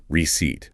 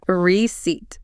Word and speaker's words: receipt: Receipt. Receipt. Okay. I have to ask, why is there a P in the word if we are completely ignoring it.